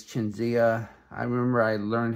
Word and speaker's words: Qingxiya: chinia on my channel I've been been saying quen zixia and that's not right it's chenia I remember I learned how to say it once but I forgot but chinia is how you say